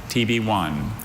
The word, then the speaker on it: tibione: TB1. This word TB1. literally sounds like the letter T, the letter B, and then the number 1, but it's not.